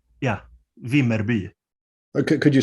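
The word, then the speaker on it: Vimmerby: in now yeah yeah yeah it's called yeah v merby okay could you spell it for me i'll never be able to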